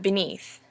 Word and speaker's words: beneath: Next we have beneath. Beneath. Beneath also has two syllables. However, it starts off with an unstressed and ends with a stressed. Beneath, as opposed to beneath.